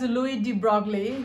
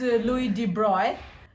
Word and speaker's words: Louis de Broglie: Some people utter his name as Louis de Broglie. He was a duke, and I pronounce his name as Louis de Broglie.